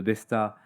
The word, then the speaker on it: Besta: nous avons appelé le Besta, on le prononce à la française, on veut qu'il soit accessible à un maximum d'agriculteurs dans le monde.